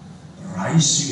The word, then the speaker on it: Rice: 여러분 발음 조심하세요. 라이스는 쌀이죠. 라이스는 이예요. 이. 가벼운 이. 미국 가서 Where is Rice University? 잘못하면 혼납니다. 이를 기르는 대학교는 없습니다.